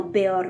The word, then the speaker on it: Beor: À moins d'une remarque particulière, il faut se référer aux valeurs de l'elfique, c'est-à-dire prononcer chaque voyelle, surtout si l'une porte un accent ou un tréma, comme dans Beor ou Roak, rouler le